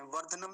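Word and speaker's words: वर्धनम्: य तो आसान है पुष्टि वर्ध वर्ध ध का पूरा होता है इसमें वर्धनम नहीं बोलेंगे वर्धन कहते नहीं तो कई बार पूरा क्या होगा वर्धनम वर्ध ऐसा ध का का ध्यान रखेंगे वर्धनम अगला शब्द देखिए यहां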